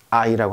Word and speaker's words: hay: 자 보시죠 i 어이가 하이 아니죠 아이 입니다 왜냐하면 맨 앞에 있는 있을 때는 이게 h 바른 힙 발음이 없어져 버리죠 를 발음할 때 배웠죠